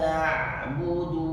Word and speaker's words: na'budu: Iyyaka na'budu wa iyyaka nasta'in. Iyyaka na'budu wa iyyaka nasta'in. Ditekan sedikit lagi. Iyyaka ka bukan bacanya ka, enggak juga bacanya ka, salah.